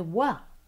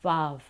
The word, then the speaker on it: vav: We don't say va, we say wa for the vav, wow. And when we sing, we use wa instead of va. And then I'll be stopped. Someone in the audience will say, but you're saying it wrong. And I'll say, well, not really, you know. That's how we do it. This is how we pronounce the wa.